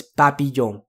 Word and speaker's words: papillon: We have that nasalized O sound, and we have the Y sound in the middle of it. So it's papillon, papillon, papillon.